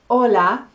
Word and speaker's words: hola: you when you say hola be careful cuidado don't say the h the h is silent and when you say